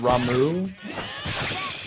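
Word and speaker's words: Ramuh: guess that the the the lightning summon guy is supposed to be pronounced ramu I resist that if it's going to be pronounced ramu don't put the H on the end of it that always said Rama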